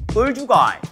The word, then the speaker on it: 얼죽아: 얼죽아이.